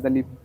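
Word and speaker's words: दलीप: अब सिख दिलीप दलिप है। उनके मतलब उस सिख सिख लोगों के उच्चारण में हो जाता है। दिलीप दलिप हो जाएंगे। अपना लोग का उच्चारण के अनुसार दिलीप दिलीप बोलते हैं।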